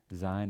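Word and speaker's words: Zayin: Zain is a voiced S. So just like Z, as in zoo.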